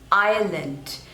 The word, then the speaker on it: Ireland: Indonesia next is Ireland Ireland so there are two syllables and the stress is on the first one Aya lent Ireland Island Ireland next one